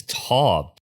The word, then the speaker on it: Taub: In this week's episode, alongside historian James Tab, actually, is it Tob or Ta, James? It's Tob.